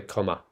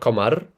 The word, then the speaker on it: comma: Comma, so comma, not commar, comma.